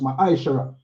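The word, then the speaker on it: מעשר: verse 8 to 10 means tend in the hebrew and is pronounced my ishara 10 of every penny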